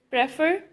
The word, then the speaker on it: prefer: Prefer, stress is on second syllable.